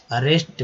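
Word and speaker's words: arrest: अब देखिए समझे एग्रीमेंट में समझा होता है अरेस्ट बोलते हैं, एक उच्चारण जो है यहाँ अ के रूप में हुआ है, ए के रूप में नहीं, अरेस्ट का मतलब होता है कि गिरफ्तार करना, गिरफ्तार।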